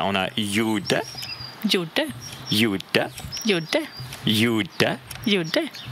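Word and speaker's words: gjuta: Donc, GJ, la combinaison de ces deux consonnes, va se prononcer comme un Y.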